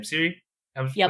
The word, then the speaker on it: Ciri: That's her name, Ciri. I'm just Yep. pronouncing it. Siri.